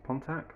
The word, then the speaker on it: Pontack: video on contact source pontac that how you say it's p-o-n-t-a CK Source it's basically an